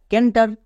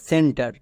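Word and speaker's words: centre: উচ্চারণ হবে সেন্টার কেন কারণ আমি বারবার বলে এসেছি সি এর পরে ই আই ওয়াই থাকলে সি এর এর জন্য দন্তস উচ্চারণ হয় তাই এটা হবে সেন্টার নেক্সট পাঁচ নম্বর ওয়ার্ডটি হচ্ছে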